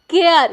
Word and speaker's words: CARE: यहाँ पे देखिए CARE, केयर।